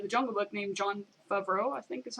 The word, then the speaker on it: Favreau: They brought the same guy who did the Jungle Book named Jon Favreau, I think is how you say that, I'm guessing. Josh, do you know? Favreau.